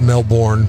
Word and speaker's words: Melbourne: said no but uh in florida it's melbourne yeah melbourne like it's spelt uh barbershop owner shot